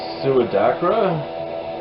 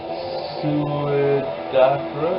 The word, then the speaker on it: Suidakra: This is, hopefully I pronounce it right, Suidakra? Suidakra? Yeah, that's how I would pronounce it. This is their 5th album, Emprise to Avalon. So Suidakra, a German melodic death